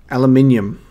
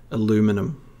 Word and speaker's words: aluminium: solar panzer attached aluminum aluminum for you americans aluminium oh it's so weird it's spelt aluminum it's aluminium aluminium i can see how americans would print like you guys pronunciate it and pronounce it aluminum but i'm sorry to say it is aluminium alloy shielding to a